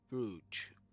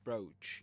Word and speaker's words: brooch: So that's that's a bru or a brooch. You can pronounce it like that too.